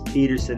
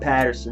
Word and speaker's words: Pederson: to like this Doug Peterson higher um yes Peter said not Patterson sorry everyone who commented wrote me on Twitter